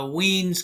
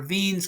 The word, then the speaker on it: Wien: and this is uh W's constant or V's constant he's German so let's pronounce it correctly and here's the idea